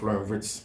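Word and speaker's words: Wirtz: Flor florit I mean the Germans don't Pronounce W but Vitz and Vitz a player Madrid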